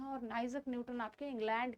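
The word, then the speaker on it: Isaac Newton: बात करें अगर हम आइजक न्यूटन, जिसको हम इसाक न्यूटन भी कहते हैं, न्यूटन भी कहते हैं, और ऐसा शुद्ध पढ़े तो आइजक न्यूटन कहा जाता है इनका शुद्ध प्रोनाउंसिएशन।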